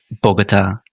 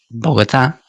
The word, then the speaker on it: Bogotá: Y es algo muy típico de los anglófonos esto, como Barcelona, Bogatá con una un consente muy fuerte en vez de Barcelona, Bogotá.